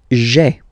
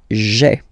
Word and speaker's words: j'ai: Remember, when you combine this a, I, you get the e sound, okay?